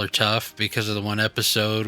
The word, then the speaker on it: Toph: adventures, and she says, "My name is Toph. It rhymes with tough."